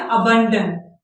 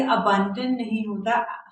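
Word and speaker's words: abandon: जैसे हमारा पहला वोकैबुलरी का वर्ड है, अब हम कहते हैं अबंडन, यानी किसी चीज को छोड़ देना, लीव समथिंग। तो ये अबंडन नहीं होता, अबंडन नहीं होता, अबंडन होता है। अबंडन यानी किसी चीज को छोड़ देना। तो पहला हमारा क्या वोकैबुलरी का वर्ड है? अबैंडन, अबैंडन, अबैंडन।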